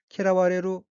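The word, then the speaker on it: 嫌われる: 타동사 키라우의 우가 와로 변하고 레루가 접속하여 수동형 키라와레루 미음을 받다가 되고 키라와레루의 마스형 키라와레 마스에서 마스를 떼고 뒤에 쉼표가 오는 형태로 키라와레는 미음을 받고 또는 미음을 받아라는 의미입니다.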